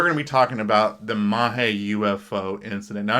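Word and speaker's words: Magé: be talking about the mahi ufo incident now i know looking at it you want to pronounce it as mage and i'm but i'm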